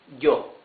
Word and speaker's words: yo: Then we have some Spanish-speaking countries pronounce the Y as sh. Some others, mostly, pronounce it like y. So let's better use y. So this would be yo.